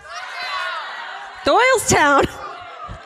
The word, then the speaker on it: Doylestown: Doylestown. There's no W in this.